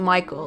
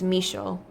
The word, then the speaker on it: Michel: to at this point is a French name so it's not Michael it's Michel and that's why I'm